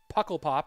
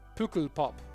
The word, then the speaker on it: Pukkelpop: Okay, let me listen to this pronunciation guide. Pukkelpop. Pukkelpop. Pukkelpop. I'm trying to pronounce it, guys. I'm trying. I'm doing my best impression of the. Thank you for sending me that pronunciation. It's Flemish, I guess.